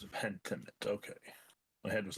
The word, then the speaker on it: Pentiment: Pentiment. Yes. Yee, That's yee, how you yee. pronounce it. Pentiment.